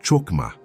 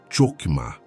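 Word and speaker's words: חכמה: de executar um projeto divino com excelência, é Chokmah. Pronuncia comigo, em voz baixa, onde você está. Rokmah. Chokmah.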